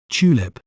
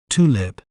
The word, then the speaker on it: tulip: In British accent, we may pronounce it as tulip, tulip, chew, lip, tulip. While in American accent, we may pronounce it as tulip, tulip, lip, tulip.